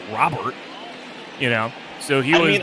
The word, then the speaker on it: Robert: the same time I it's Louis Rober that that's all I'm going to say he never said Robert in that press conference he was like I